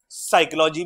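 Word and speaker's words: psychology: पी से क्या होगा? पिंक भी होगा और साइकोलॉजी भी होगा। बात समझ आई? क्यों? क्योंकि साइकोलॉजी में क्या है? P silent.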